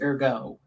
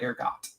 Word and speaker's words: ergo: It's ergo, not ergot.